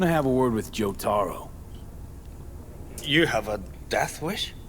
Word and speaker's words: Jotaro: I want to call him Yotaro, not Jotaro. It's funny because, you know, I'm told sometimes the J is pronounced as a Y, so I pronounce it as a Y, and then V says it's a J.